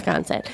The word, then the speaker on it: Sconset: The airport, and then Sconset. Okay, so Sconset.